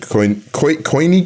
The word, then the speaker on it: Koine: Languages are Egyptian and Koine Greek.